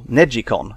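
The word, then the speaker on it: neGcon: made by Namco this one is called the neg comm or Neji comm as it's apparently supposed to be pronounced no analog thumb sticks at all instead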